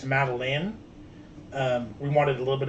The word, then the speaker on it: Madilyn: Hers is spelled Madilyn, and it's Madeline.